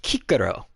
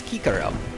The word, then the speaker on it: Cicero: him yeah his nose his name is really pronounced kikero because uh uh eyes are almost always pronounced like e's and c's are pronounced with a hard consonant so that's uh that's kikaro but other than those